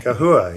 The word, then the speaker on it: Kahua: Can can you help me pronounce that one, by the way? Cahooa. Yeah.